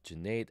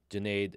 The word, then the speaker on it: Junaid: My name is Junaid. Junaid rhymes with lemonade, and I am a home studio architect.